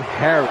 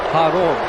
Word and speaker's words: Kharon: thought you were a journalist and you call him Harry. I just said his name is Kharon. The K is silent. You know, like the Greek gods.